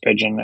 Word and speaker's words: Spigen: I think it's pronounced Spigen, S-P-I-G-E-N.